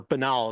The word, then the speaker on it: banal: rot so so so banal or Bal as it's supposed to be pronounced I just like banal